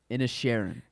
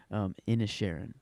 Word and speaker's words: Inisherin: Inisherin. Okay, thank you. Inisherin.